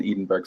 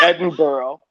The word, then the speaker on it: Edinburgh: Fringe Festival uh excuse me Fringe Festival in Edenberg Scotland did I say that correctly is it back it's Edinburgh it's Edinburgh Scotland for one thing and it's